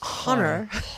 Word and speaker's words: Honor: honor yeah so honor honor is wait honor a it's a non-silent h honor honor um actually